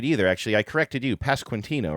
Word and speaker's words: Pasquantino: Pasquantino. No, I'm not saying it right either, actually. I corrected you. Pasquantino, right? You do say the QU a little bit there.